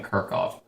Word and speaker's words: Kirchhoff: could be wrong anyway I do know that it's pronounced like this like Kirk and then off at least that's how I've always learned it so please if I'm